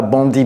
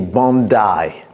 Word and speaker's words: Bondi: Beach d'abord la prononciation n'est pas Bandy Beach, c'est Bai Beach.